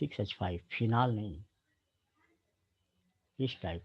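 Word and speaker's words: phenolphthalein: course में व है फिनाल फ लीन तो फिना लीन बोलते हैं लेकिन स्पेलिंग ध्यान रखिएगा फिनाल फ लीन है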